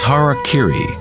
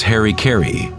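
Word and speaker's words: hara-kiri: suicide or seppuku was hara kiri was often mispronounced as harry kerry it means to impale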